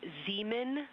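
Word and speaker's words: Zeeman: We believe that that is Zemen Crater. Zean. Okay. And can you say the first letter? I may be pronouncing that wrong.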